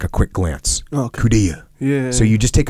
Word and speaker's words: coup d'oeil: It looks like coupe d'oeil, but the way you actually say it is coup d'oeil.